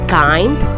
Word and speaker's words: kind: Similarly, words ending with I-N-D. The sound of short vowel I is E. But these words are pronounced as find, kind, blind and mind.